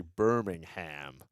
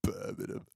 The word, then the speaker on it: Birmingham: I get checked with Americans say Birmingham. Yeah, well, it's Birmingham, Alabama, right? But no, for those that are coming to the UK, it's Birmingham. It's Birmingham. Get it right.